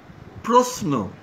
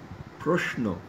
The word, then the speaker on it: প্রশ্ন: শব্দের শেষে আবার বিষ্ণু, জিষ্ণু, প্রশ্ন, অনেকে প্রশ্ন দন্ত্যস্বর দিয়ে উচ্চারণ করেন প্রশ্ন এইভাবে, এটি সম্ভবত পূর্ববঙ্গের আঞ্চলিক উচ্চারণ, প্রমিত শিষ্ট উচ্চারণ নয়। বলুন প্রশ্ন প্রশ্ন প্রশ্ন।